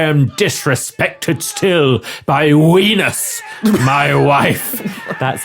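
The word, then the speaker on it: Venus: an adult I am dis respected still by wenus my wife that's how it's pronounced W no wus v w you do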